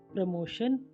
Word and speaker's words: promotion: टी के बाद IA, IE, IO आएगा तो टी का उच्चारण श हो जाएगा।